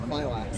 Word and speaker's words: Filax: I say it Felix because it sounds cool, but that's how it's spelled. Filax. You know Fila, the brand Fila? Yeah. Put an X on the end.